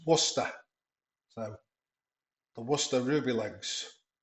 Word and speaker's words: Worcester: in the UK and that's how it's pronounced not Warester Wish there's one one lady online who says wishes wishes or something but it's Worcester so the Worcester ruby